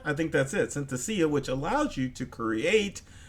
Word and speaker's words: Synthesia: and I hate this because I can never pronounce this word it's sent to Sia I think that's it Synthesia which allows you to create a AI Avatar